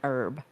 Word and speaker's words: herb: But in our day-to-day lives, we do not pronounce the H in herb.